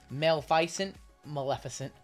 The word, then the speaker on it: Maleficent: The reason I know how to say Maleficent is because it sounds like Malevolent, which is the name of a band I like.